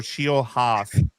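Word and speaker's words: Nate Scheelhaase: It is Nate Shieldhouse, like Shield House or Shield Haas.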